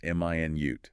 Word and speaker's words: minute: M i nute. That's the unit of time 60 seconds. Stress on the second syllable minute. That's the adjective meaning very very small tiny.